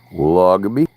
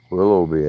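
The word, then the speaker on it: Willoughby: Willogby? Did I pronounce that right? Willogby? Willogby? Willowby, I think. The HGH silent.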